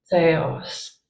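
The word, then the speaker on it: θεός: the middle theta so theta makes a th sound like thing and yeah and um and then or author it's kind of a soft th sound author and so seos theos is the word for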